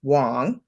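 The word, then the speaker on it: Wang: wong um pronoun uh spelled w-a-n-g but pronounced wong she did a video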